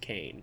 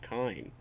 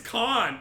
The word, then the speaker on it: Kane: that Billy Kane action, whose name is actually pronounced Kane and not Kine. It is Khan. It's Billy Khan.